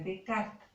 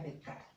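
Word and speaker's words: Descartes: que este método de decarta se dice se escriben las cartas pero era francés bueno entonces se pronuncia de cara se basa en la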